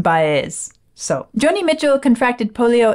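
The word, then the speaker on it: Baez: channel someone said someone because I said JN baz and they said no no no no no that's not okay you have to say JN bz so Johnny Mitchell contracted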